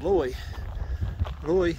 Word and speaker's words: Loy: Yeah, see, I pronounced that like wrong like 20 times. Loy Canyon Trail with an L.